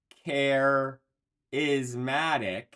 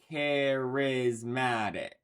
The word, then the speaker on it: charismatic: air word carismatic again it's not carismatic it's charismatic activity accessory or accessory